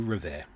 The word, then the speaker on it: Revert: For those that don't know me, I'm Revert. For those that do know me, you probably didn't know that's how you said my surname. Revert. Think Stephen Colbert.